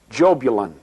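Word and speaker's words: Jahbulon: The name is Jobulon. It is a combination of three words: Jehovah, Baal, and Osiris, the Egyptian sun god. Yah, Baal, on.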